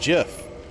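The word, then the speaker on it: GIF: Yeah, it's pronounced Jiff.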